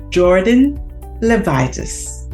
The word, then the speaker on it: Jordyn Levitas: our guests for today and her name is Jordan levitis did I get that right yes you did um okay it's so important to pronounce people's names properly so I'm glad I